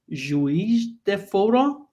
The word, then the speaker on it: Juiz de Fora: Gregory is a dear colleague in mathematics department in Federal University of Juiz de Fora. Did I pronounce well?